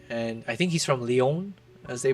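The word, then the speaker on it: Lyon: He's French and I think he's from Leon, as they pronounce it.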